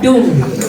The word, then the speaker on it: DUM: Jadi enggak bukan D dibacanya tetap Doom diberkati untuk memberkati.